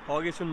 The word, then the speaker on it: Haugesund: एक और ग्रफिटी दिखी है हॉगेसन, ये जहाँ मैं आ रखा हूँ उस जगह का नाम है HAUGESUND, हॉगेसन बोलते हैं, डी साइलेंट है।